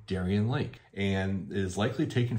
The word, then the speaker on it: Darien: famous amusement park in the town itself called Darien Lake and the commercials radio spots everything say Darien Lake and it is likely taken from the town